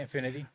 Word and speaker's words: Infinity: The other nominees were Rose Byrne, Chase Infinity. I'm sure I'm mispronouncing that last name. You got it, Infinity.